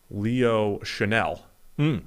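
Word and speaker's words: Chenal: Leo Chanel, I've been told. It is. Is the pronunciation.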